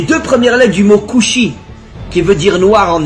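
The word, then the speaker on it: כושי: En hébreu, le mot noir se dit kushi. Alors bien sûr, vous connaissez pas l'hébreu, mais faites-moi confiance. Le mot kushi s'écrit en hébreu Kaf Vav Shin Yud.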